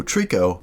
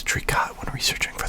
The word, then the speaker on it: Tricot: collaboration that is perfume so Trico I only learned that they weren't pronounced as trika video our chords that